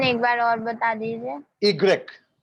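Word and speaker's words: i grec: Right so ये पूरे की पूरी प्रैक्टिस की चीज है सो you have to practice sir Y का प्रोनाउंसिएशन एक बार और बता दीजिए. इग्रेक ई Exact.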